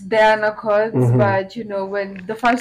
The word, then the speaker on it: Dyana Cods: Is it Dyana Cods jina yako inatamkwa vipi kweli? So it's Dyana Cods, mm-hmm.